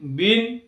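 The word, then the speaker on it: bean: ঠিক একই রকম ভাবে বি ই এ এন, বিন। এল ই এ এন, লিন, অর্থাৎ ই এর পরে এই লেটারটি সাইলেন্ট থাকছে।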